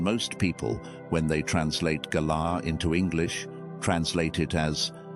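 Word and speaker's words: גָּלָה: The word is galah. Spelled in the letters we use in English, g a l a h, pronounced ga la.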